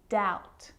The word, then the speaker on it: doubt: it before the consonant T so think of these examples subtle depth and doubt so seeing all of